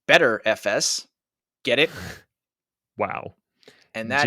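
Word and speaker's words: Btrfs: is also BTR FS which apparently is supposed to be pronounced better FS get it wow and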